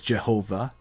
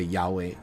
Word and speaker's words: Yahweh: Yeah, I'm switching it to the current, how it's really, but normally you would translate it as Jehovah, but nowadays we say Yahweh because that's actually probably the more accurate pronunciation.